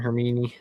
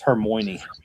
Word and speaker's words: Hermione: Gryffindor and Hermione. It's Hermione. Does he put the emphasis on the wrong syllable?